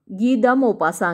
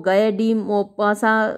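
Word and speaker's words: Guy de Maupassant: गी द मोपासा की नाम थोड़ा सा अलग है। अब कई बार मैंने इसको गए डी मोपासा भी प्रोनाउंस किया है। अब क्योंकि फ्रेंच नेम है तो थोड़ा सा तो दिक्कत आती ही है हमको प्रोनाउंस करने में।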